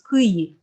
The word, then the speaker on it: Kyiv: This is how it's pronounced in Russian. But the other pronunciation, it's supposed to represent how it's pronounced in Ukrainian. So it's Kyiv, but nobody can pronounce it either.